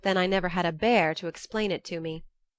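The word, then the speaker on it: Bhaer: at his horrid name it isn't pronounced either bear or a beer as people will say it but something between the two as only Germans can give it I'm glad you both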